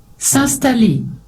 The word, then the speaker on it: s'installer: S'installer. To take a break, to chill, probably. S'installer. S'installer, s'installer, S'installer. s'installer. So the in here sounds quite silent, so they don't actually pronounce the in S'installer.